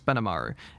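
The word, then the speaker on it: Benimaru: No, I'm not saying his name wrong. It's Benamaru.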